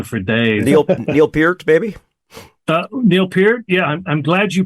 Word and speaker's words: Neil Peart: Neil Peart? Yeah, I'm glad you pronounced it correctly.